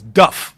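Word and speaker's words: dubh: Dub is not pronounced dub. It's Duff. B-H is an F or V sound.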